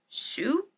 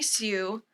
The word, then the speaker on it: Hsu: all at once or Stephanie shoe I'm gonna assume is how you say it Hsu from everything everywhere all at once I believe Stephanie Sue or Sue has a